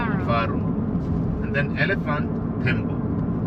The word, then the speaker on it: tembo: faru And then elephant tembo. tembo tembo, yeah. T E M B O, tembo. tembo, okay. Yes. Love that. Yes. Quite different pronunciation between jumbo and the tembo.